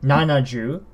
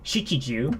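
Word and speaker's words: 七十: the larger numbers here, so 70, nanaju, you don't say shichiju, you say nanaju, 70, nanahyaku, 700, and so on and so forth.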